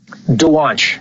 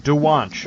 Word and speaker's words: Dwonch: Dwonch. Dwonch. Okay. Dwonch. Yep. Yeah, it's actually exactly the way it's spelled, and it's a fake name.